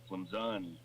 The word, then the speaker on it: Clemson: There's no Z in Clemson. Clemson.